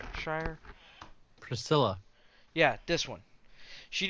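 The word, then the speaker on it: Shirer: Um, I always say her name wrong. T.D. Jakes' daughter, Priscilla Pryor. Shire? Shire.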